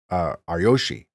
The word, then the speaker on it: Ryoshi: I think you pronounce every syllable in the game, so it's Ryoshi.